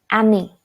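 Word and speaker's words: amie: For friend, if you are referring to a person, a friend who is female, then we'll add E to it. Ami. Pronunciation would remain same.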